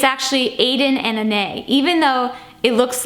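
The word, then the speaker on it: aden + anais: look up that that is how you properly pronounce that brand name like who knew it's actually Aiden and Ane even though it looks like Aiden and anas it's spelled it's pronounced aen n and it's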